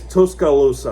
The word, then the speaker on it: Tuscaloosa: Okay, it's Tuscaloosa. Okay. Tuscaloosa Alabama that that school that school yet and